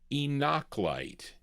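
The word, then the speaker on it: Enoch Light: Enochite.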